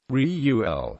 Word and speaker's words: Reuel: pronunciation by European speakers Riu L with the first syllable strong accented is nearer to the true pronunciation some suppose he was